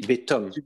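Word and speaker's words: בְּתֹם: On dit ici betom. Ah oui. Betom. Le kamad se prononce O ici.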